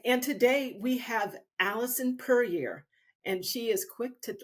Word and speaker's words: Puryear: today we have Alison perier and she is quick to let you know it's pronounced like Courier did I get it